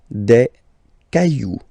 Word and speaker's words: cailloux: Then, un caillou, plural, des cailloux. Okay, remember, you don't pronounce it, the final X.